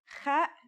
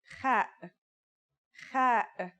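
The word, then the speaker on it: خ: Kha is a sound some people make when they laugh. It's also similar to the sound people make when they snore.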